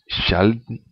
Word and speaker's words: sjelden: It's sh as in English ship. In Norwegian, s j s k e s k j and sky would be combination. Would in Norwegian has this sound and this pronunciation. Sjelden. She. Skyer. Sjelden, she, skyer. Same sound as in ship.